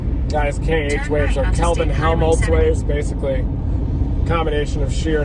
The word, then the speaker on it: Helmholtz: Helmholtz, yeah. I gave up on pronouncing it.